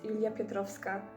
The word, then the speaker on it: Julia Piotrowska: So if you wondered how to pronounce the gibberish that is my channel's name which is my actual name it's Julia Piotrowska.